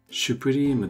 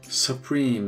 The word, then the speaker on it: supreme: はないようにスプリームはシュプリームとは読みませんそぷりーんの発音はさあスプリーンかすースプリーンです一応説明をカタカナで書くとさすーすに似ていますアメリカ英語ですとさっ古いんサプリーンの発音が多いですサブウェイサプ目